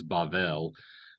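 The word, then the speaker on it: בבל: technical on the Hebrew, it's Bavel, but we can talk about that later. So, Bell. Bavel, Oh, Babel.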